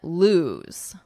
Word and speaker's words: lose: And here we have a Z at the end, it buzzes, but you have a different vowel.